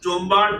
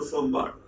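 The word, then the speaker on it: Sombart: systematically by a man who is in two pronunciations, Jombard or Sombard.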